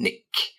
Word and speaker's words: nick: Okay, the next one, in the nick of time, and get that pronunciation, nick, get the k sound at the end, in the nick of time.